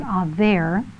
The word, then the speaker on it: Eber: Now Noah, Shem, and their descendant Eber, which in Hebrew is pronounced Aver, were Abraham's successors, who were all living at the time that Abraham was born.